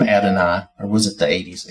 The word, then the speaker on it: Adonai: own Fanatics beside theirs because the guy that pronounces this and I've always heard it as Adonai and this looks like adenoid which is as far as I know not